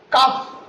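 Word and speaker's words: cough: C-O-U-G-H, cuff, cuff, and D-O-U-G-H is pronounced as dog, dog.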